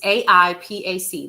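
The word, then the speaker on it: AIPAC: Apac, you want to talk about that? Sure, let's talk about it. Let's talk about Apac really quick, Carol. So, it's AI PAC. Let me spell it again. AI PAC.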